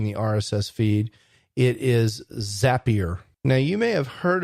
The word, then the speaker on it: Zapier: So sometimes I hear people say Zapier, which is easy to understand because it kind of looks like that when you look at it. But what the Zapier people say is Zapier rhymes with happier.